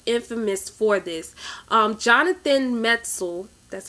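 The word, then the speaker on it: Metzl: criminally insane was infamous for this um jonathan metzel that's how you pronounce his name he's the author of the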